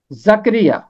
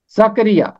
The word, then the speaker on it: زکریا: ہے۔ اگلا نام ہے زکریا، زکریا۔ اس کا تلفظ جو ہے یہاں بھی رے کے نیچے زیر ہے، زکریا، یہاں مجھ سے غلطی